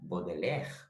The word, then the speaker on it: Baudelaire: não esteja errado mas sim a pronúncia estiver rima com bodeler bodeler se eu não